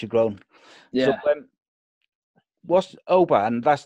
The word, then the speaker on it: Oban: People call me Oban. It's actually pronounced. My name should be pronounced Oban.